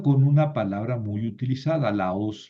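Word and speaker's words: λαός: Y termino con una palabra muy utilizada, la os, la u es una oxítona. Entonces, nunca se va a mover el acento de la última sílaba.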